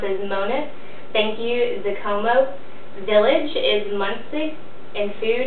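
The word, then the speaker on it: Zikomo: Hello is pronounced as Mona, thank you is Zakomo, village is Munsi, and food is Chakuda, water is Matza, and bed is Kama.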